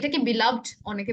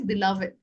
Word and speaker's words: beloved: my beloved family members beloved but actually the better pronunciation is beloved beloved family members and